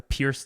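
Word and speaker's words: Pirc: spend some time studying the perk defense or the not perk cassette it's um the Pierce defense I think it's supposed to be pronounced the way it works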